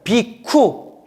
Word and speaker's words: 비구: 비구를 뭐라고 하냐면 따라해보세요 비쿠 비쿠 비구니를 따라해보세요 비쿠니 비니 그래서 비쿠 삐꾸 이러면 안 돼요 삐꾸 아니에요 비쿠 비구가 비후가 이제 구라는